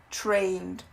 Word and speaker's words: trained: A gente não pronuncia muito o E, a gente pronuncia mais o D. Trained, learned. Ok? Não tem muito E no meio. É um som bem curtinho.